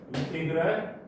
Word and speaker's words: 인테그랄: 이거를 뭐라고 읽냐면 인테그랄이라고 읽는데 뭐라고? 인테그랄. 인테그랄 3x 제곱의 dx 이렇게 읽으면 되는 거야.